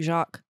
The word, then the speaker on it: Jacques: It's French. There's just like Jacques. Jacques. There's an S at the end.